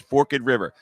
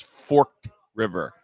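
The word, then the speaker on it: Forked River: It's Forkid River. It looks like your viewers are going to think it says Fork River.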